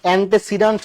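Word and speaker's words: antecedent: pronoun টাকে anti না এন্টেসিডেন্টস বলে ঠিক আছে এন্ট এন্টি না এন্টে উচ্চারণ ঠিক করেন ঠিক আছে এই এন্টি মানে বিরোধী এন্টি মানে কি বিরোধী আর এন্টে মানে হচ্ছে পূর্বে তাহলে এন্টেসিডেন্ট সিডেন্ট মানে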